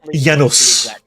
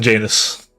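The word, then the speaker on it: Janos: That was the It is pronounced Yanos rather than Janus.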